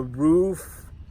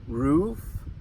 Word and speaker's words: roof: One of those is "roof", the "roof" of a house, and some people pronounce it with the long double O sound. "Oo" "roof" and some people pronounce it with the short double O sound "roof".